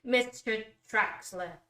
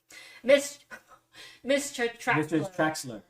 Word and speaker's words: mischer'traxler: I'm still pronouncing it wrong. Mischer'traxler. Okay. Yeah. Mischer'traxler Studio.